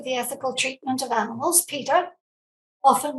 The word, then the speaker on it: PETA: of people for the ethical treatment of animals peter often mispronounced as peta it depends where you are in the world